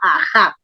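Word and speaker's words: Aha: Andes que se llama Aja. También se escribe A-H-A porque se escribe en egipcio, en jeroglíficos egipcios, pero la fonética del nombre está registrado en el Runasimi, Aja.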